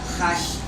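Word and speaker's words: Hajj: la Meca esta peregrinación se llama has se trans litera como H J has se pronuncia esta peregrinación se debe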